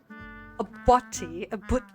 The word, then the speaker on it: butty: A butty, I can't even pronounce it anymore. You cannot say that word in American English. It sounds so bad. A buddy. Like, it sounds like buddy, B-U-D-D-Y.